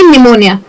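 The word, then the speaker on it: pneumonia: जैसे कि निमोनिया। ऐसा कोई रूल नहीं है कि एन अगर आया तो पी साइलेंट ही होना चाहिए।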